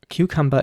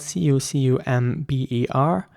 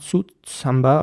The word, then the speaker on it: cucumber: Cucumber is spelled C-U-C-U-M-B-E-R, and again, it's very important to pronounce the C's as K sounds. So it's cucumber. Not sutsamba or something, but cucumber.